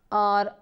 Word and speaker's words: our: The books on आर, ये जो OUR है इसकी आवाज़ बिल्कुल ऐसे आनी चाहिए जैसे सिर्फ आर लिखा हुआ हो, जैसे ये आर लिखा हुआ है तो इसकी प्रोनाउंसिएशन है आर, बिल्कुल उसी तरह जैसे ARE की आर है।